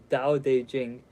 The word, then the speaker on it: Dao De Jing: Vata de Jen pronounced more or less Dao De Jing can be translated as